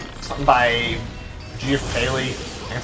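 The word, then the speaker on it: Keighley: supposed to be basically it's something by geoff kaley that's how you say his name the guy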